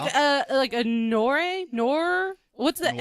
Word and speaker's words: noir: a noir. What's the Noir. N? Noir. Noir. Like N-E-W-A-R-E. No, Noir. But it's spelled N-O-I-R, Yeah.